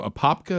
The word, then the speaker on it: Apopka: So Apopka, is that how you say it? Apopka.